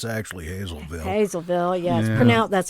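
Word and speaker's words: Hazlettville: have something that's spelled hazlittville and it's actually hazelville hazelville yes that's how it's pronounced i live on lockerman street and i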